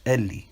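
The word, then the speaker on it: אלי: still begs the question why did this ancient writer look at alephed and conclude that it was pronounced Eli unless that was the ancient understanding of how the word my God was pronounced at that time or to put it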